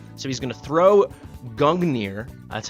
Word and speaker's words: Gungnir: So he's going to throw Gungnir, that's how we're going to pronounce it, which is he's going to throw